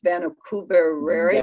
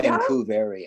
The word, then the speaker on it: Vancouveria: And then to the right, I'm going to just butcher the name, but it's Vancouveria. Vancouveria, yeah. from Hexandria. Vancouver. Yes. American barrenwort. Let's say it like that.